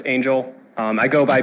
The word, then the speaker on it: Angel: Hi, so if any of you don't recognize me, actually pronounced Angel.